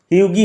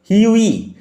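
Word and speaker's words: Hughie: The story follows হিউই এরস্কিন, উচ্চারণ লক্ষ্য করো, হিউগি হবে না, হাগি হবে না, হিউই, GH will remain silent, GH silent থাকবে, হিউই এরস্কিন, a handsome but financially struggling young man in love with Laura মার্টন।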